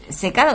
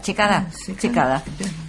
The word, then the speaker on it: Checada: ¿Cómo se pronuncia padre? ¿Secada o Checada? Checada.